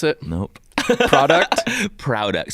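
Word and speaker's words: Prouduct: So Richie is the co-founder of Product. Yep. Is that how you pronounce it? Nope. Product? Product. So it's like Product, products you're proud of.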